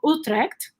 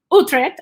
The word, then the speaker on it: Utrecht: to amsterdam where i live that is called utrecht i can pronounce it properly uh utrecht and sometimes people say utrecht and we don't